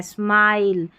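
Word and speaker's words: smile: Last में ई है ना, इसलिए इस आई को आई पढ़ना है, स्माइल।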